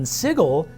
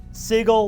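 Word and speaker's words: Sigil: all aligned ethically and morally and then in sigle and that's how you pronounce it sigle like wiggle it's pronounced differently okay if you're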